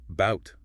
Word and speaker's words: about: Think of the word about. We stress the second syllable about. So the a at the beginning becomes awah or the word teacher.